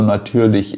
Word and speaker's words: natürlich: Natürlich, ali no final do natürlich é o CH, o mesmo CH do kochen. A terminação você também tem que pronunciar natürlich.